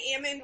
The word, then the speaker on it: almond: um Agriculture and um they all pronounce it Ammon they say Ammond when it's like off the tree when it's on the tree they call it almond and so it's a